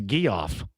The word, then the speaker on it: Geoff: That's how I pronounce it. Yeah. It's not Jeff, it's Geoff.